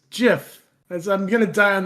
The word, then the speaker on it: GIF: Hard G. Hard G. It's GIF.